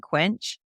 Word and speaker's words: KWENCH: Like, when someone comes in looking for an office in Quench, if I don't think that that office is